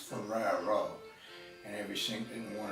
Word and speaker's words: Ferraro: mean Deo I'm not my last name is pronounced Ferraro and every sing in one of s she especially the southern ones feru that was different name in the van most